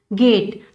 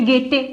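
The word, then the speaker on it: gate: ई का pronunciation means हमने गेटे या गेटी कुछ नहीं बोला है, गेट बोला है सीधा।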